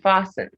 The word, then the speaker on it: fasten: the thus hasten and fasten the t is silent in s-t-e-n then castle you have